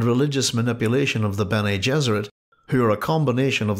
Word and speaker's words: Gesserit: It is no accident that the pronunciations of Gesserit and Jesuit are similar, as he envisaged his maternal aunts and the Bene Gesserit of Dune as female Jesuits.